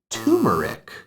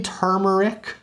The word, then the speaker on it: turmeric: This word is usually, I would say more often than not, pronounced as turmeric. But as you can see from the spelling, there is an R there. It should be turmeric.